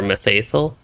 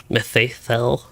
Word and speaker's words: Mitheithel: for a methaethyl methathel it's so easy for me to say ol instead of l even if it is as far as i know at least it's more of an l sound at the end rather than an old okay that's actually not